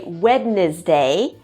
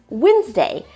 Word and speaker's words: Wednesday: I often hear students say Wednesday, but no, it's just Wednesday.